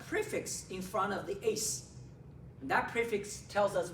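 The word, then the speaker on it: -ase: end with three letters a-s-e pronounces Ace okay all enzymes have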